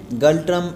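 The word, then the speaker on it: ngultrum: है वह galtrum है galtrum एन जी यू एल टी आर यू एम इसमें एन जो है वो साइलेंट है और यह भी साउथ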